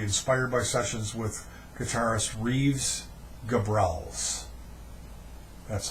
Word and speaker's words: Reeves Gabrels: of David Bowie inspired by sessions with guitarist Reeves Gabrels that's how you pronounce his name drummer hunt sales bassist Tony